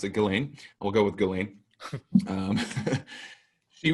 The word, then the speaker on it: Ghislaine: But let's get into the topic of Epstein and Ghislaine Maxwell now, because that seems to be the,